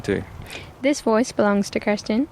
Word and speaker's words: Kirsten: this voice belongs to Christen is that actually how you say your name or is that adjusted to Australians no no no that is the intended pronunciation cuz I know there's